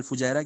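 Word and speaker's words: الفجيرة: में पूछ लिया जाए, मुझे लगता है फजीरा बोलते हैं या फुजैरा बोलते हैं, जो भी है करेक्ट प्रोनाउंसिएशन अल शायद फुजैरा भाई, फुजैरा फुजैरा ही फुजैरा।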